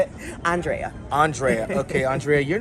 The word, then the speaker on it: Andrea: Andrea.